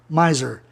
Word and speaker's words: miser: Miser, 2 sílabas, uma consoante no meio, o I soa I. Miser.